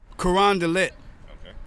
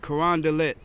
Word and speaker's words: Carondelet: So they might have kind of a normal struggle with anybody from anywhere trying to pronounce any of the names of some of these streets. Carondelet. Carondelet. Carondelet.